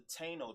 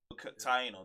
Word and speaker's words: Taino: He killed off a third of the Taino tribe. Taino, there you go. I pronounced it wrong.